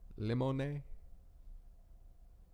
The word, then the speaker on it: limone: That was the best because they had flavors like limone, which is just lemon, but they pronounced the E at the end.